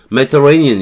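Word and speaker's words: Mediterranean: 발음 안 해도 되니까 여기 강세주고 여기 요 부분 빼고 터 요것도 빼고 여기서부터 여기까지 쭉 빼고 레이니언 여기 레이니언 여기만 강세우는 거예요. 메터레이니언 이렇게 하는 거죠.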